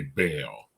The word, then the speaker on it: Baal: B is okay yeah I think that's the like correct Hebrew pronunciation but we sound kind of goofy when we say it that way so in English we we usually just say bail yeah now I just